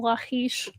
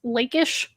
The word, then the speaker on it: Lachish: So Lex Lotta says that they saw a video with Wes Huff pronouncing Lachish as Lakeish, as though it's a city like a lake.